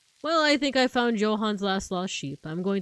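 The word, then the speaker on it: Johann: name Yan right like Johan Sebastian Bach and you know like you know how it's like supposed to be pronounced like Johan with like a y sound I know a Filipino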